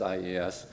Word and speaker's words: IES: That's IES City, and we picked that because IES in Italian is pronounced yes, and so it's Yes City framework that we're...